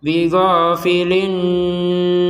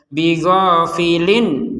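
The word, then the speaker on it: بِغَافِلٍ: Ya, jadi linnya itu dipanjangkan. Bighafilin nah, itu kan tidak boleh seperti itu. Jadi yang seperti ini langsung saja. Bighafilin amma, seperti itu.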